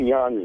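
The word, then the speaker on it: Jon: How come Jan's name is spelled J-O-N? Yeah, because when you're from that part of the world, J-O-N is Jan.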